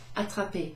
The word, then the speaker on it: attraper: So I've got the verb attraper, attraper, to catch. I catch the ball. So here's the verb. A-T-T-R-A-P-E-R. As with all these other infinitive ER verbs, ER at the end is pronounced E.